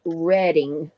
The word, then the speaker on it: Reading: this is the New York Chicago and St Louis Railroad Company okay so the proper pronunciation is reading so these are really old 1800s those would